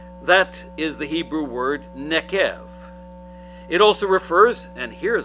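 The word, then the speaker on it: neqev: Nekev, if you're trying to write it down and spell it out, that's N as in Nancy, E as in Edward, Q as in Quincy, E as in Edward, V as in Victor. Nekev. The V is a V sound.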